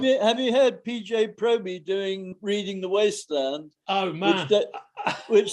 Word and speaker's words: Reading: he's just reading, and he gets Reading, the town, for reading. So he pronounces it reading rather than Reading.